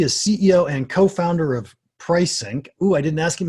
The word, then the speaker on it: Prisync: He is CEO and co-founder of Prisync. Ooh, I didn't ask him how to pronounce that. We'll find out later if I got it right. That's correct. Pricing. That's just like pricing itself, actually.